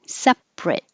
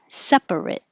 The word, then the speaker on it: separate: sounds like ah and the adjective has two syllables separate we just drop the middle a separate and the verb keeps all three syllables separate i'm sorry separate the ate stays the same spelling but the sound changes from it to eight separate separate same thing